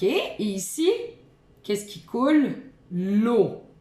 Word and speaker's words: eau: L'eau. E-A-U, ça fait le son O.